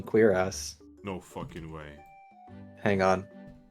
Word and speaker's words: cuirass: Also, according to Google, I was actually right with the first pronunciation, cuirass.